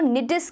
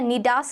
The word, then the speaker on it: nidus: Nidus को nidus की तरह या nidas की तरह भी करा जाता है, but nidus is the acceptable pronunciation.